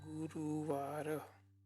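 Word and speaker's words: ગુરુવાર: is g u r u v a r guruvara you because the first day becomes and Friday is called which is pronounced as s h u a r a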